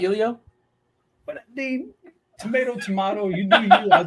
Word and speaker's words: Heliot: Oh, I'm going Heliot Ramos and Jorge Soler. Isn't the H silent? It's not Elio?